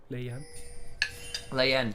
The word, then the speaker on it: Leyen: had Wei and then Leyen is the correct pronunciation, because again, one of those ones where the pinyin translation to English isn't always as obvious as you think it is.